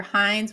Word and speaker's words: Hinds: So I am most active on X, and I am at Hey Hines, which is spelled Hinds.